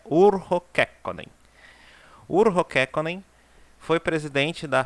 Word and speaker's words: Urho Kekkonen: O jeito certo de pronunciar é Urho Kekkonen.